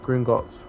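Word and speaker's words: Gringotts: Oh, I said it. I said it right. I thought I pronounced it wrong. It's Gringots.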